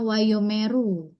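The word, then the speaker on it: וַיֹּאמְרוּ: Nah, jadi cara bacanya wayomeru. Jadi itu wayo meru. Betul. Jadi yang titik dua di bawah itu swa ya. Shewa jadi wayumu.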